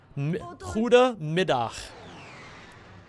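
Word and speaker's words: goedemiddag: of the day midday Huda midah G's in this language are pronounced like the Hebrew so Huda like good mid like midday yeah you're pretty close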